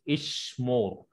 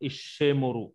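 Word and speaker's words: אשמור: For example, there is Ishmor, not Ishemoru or Ishamori. No, Ishmor.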